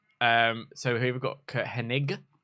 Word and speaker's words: Hennig: so who we've got Hennig not Henning Mr Perfect love Mr